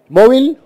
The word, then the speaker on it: MOVL: Móvil, así llama, se escribe así, MOVL, es un emprendimiento de